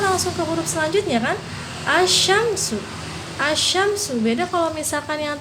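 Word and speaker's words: الشمس: Terus dibacanya tidak jelas, lamnya tidak jelas ya, tidak jelas. Contohnya langsung ke contoh ya, misalkan asyamsu.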